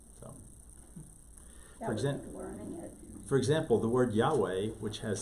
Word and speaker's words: Yahweh: So, for example, the word Yahweh, which has 6 letters, the name of God, only has 4 letters in Hebrew. Mhm. Yod Ha Veh Ha, YHVH. V is pronounced, we pronounce it as a W, but at any rate.